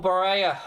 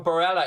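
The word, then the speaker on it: Barella: go all in for nicole baraya or barela excuse me i've been corrected on that pronunciation a few times for 30 to 50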